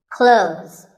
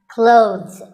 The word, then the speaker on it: clothes: When we say clothes, the TH in the middle can often be silent. Clothes. But it's not wrong if you say these letters with a the sound. Clothes. That's also correct.